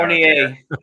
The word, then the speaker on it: Fournier: Fournier. It's like Battier.